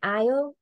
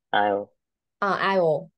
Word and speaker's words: aisle: Aisle. I'll see. Aisle nha. Don't pronounce like IELTS.